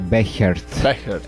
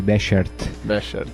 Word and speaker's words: Bechert: Que a gente se identifique com ele, mas seria corretamente pronunciar Bechert em alemão, mas português o pessoal também fala de Bechert.